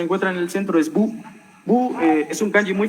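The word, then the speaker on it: 武: El siguiente kanji que se encuentra en el centro es bu.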